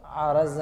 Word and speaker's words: عرض: منطق فلسفہ میں جب جوہر اور عرض کی بات ہم لوگ کرتے ہیں، لفظ اصل میں ہے کیا؟ وہ عرض ہے، را پہ زبر کے ساتھ میں ہے، وہ زیر نہیں.